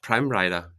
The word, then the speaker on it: Pramreiter: It's Pramreiter. Is that pronounced Yeah, correct, I would say?